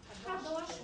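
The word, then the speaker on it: קדוש: Kadosh, Kadosh. Kadosh. Kadosh. Evita abrir muito os os e os es.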